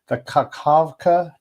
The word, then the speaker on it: Kakhovka: You just pronounce it as ha. Yeah. It's like, it's more like an Arabic ha.